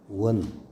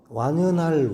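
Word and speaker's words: 宛: 있고 그다음에 동득 백리해의 원, 요 원자가 고을 이름 완연할 완 그렇죠. 고을 이름을 얘기할 때는 원으로 발음하고 완연하다 할 때는 완입니다.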